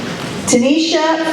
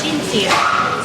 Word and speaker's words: Tincia: Tanisha from Divas. Yeah! Did I say it wrong? How do you say it? It's Tincia. Tincia.